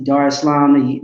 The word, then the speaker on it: Dar es Salaam: Went to Dar es Salaam the year prior, which is Tanzania. That's how they pronounce it there.